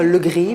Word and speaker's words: Le Grip: gris ou le gris alors dans ma famille on a pris l'habitude ne pas prononcer le paie et de dire le gris mais je ne m'en